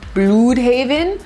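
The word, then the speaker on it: Blüdhaven: it that it's pronounced Bloodhaven, which a lot of people suspect because there is the symbol over the U, but also a lot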